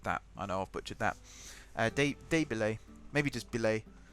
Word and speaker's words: billets: Des Billets. I've butchered that. I know I've butchered that. Des Billets. Maybe just Billets. B-I-L-L-E-T-S. Billets, as I'm sure some people would say, but I think it's pronounced Billet.